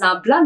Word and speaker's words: nabla: The navla of f this symbol we used to pronounce as nabla navla of the function f that gives the magnitude and direction of the steepest slope.